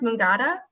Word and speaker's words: Mangata: and pinterest at um i believe is it pronounced mungada yeah we got apothecary mangada but it's m-a-n-g-a-t-a as you can see on